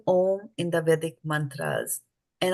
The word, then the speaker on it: om: sun pra prara means the three letters a u m pronounced om Ser in all vesu